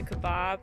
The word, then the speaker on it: Kaibab: little point right there is part of the Kaibab. That's how I pronounce it, the Kaibab Trail.